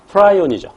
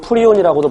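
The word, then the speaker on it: prion: 자, 그 다음에 맨 끝에 스크래피 광우병 크로이치펠트 야구병은 한꺼번에, 세 개 한꺼번에 관하고 그 병원체가 프라이온이죠. 또는 프리온이라고도 발음합니다.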